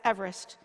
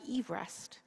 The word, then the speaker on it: Everest: in the mid-1800s and his name was actually pronounced Eve rest not Everest when it's got changed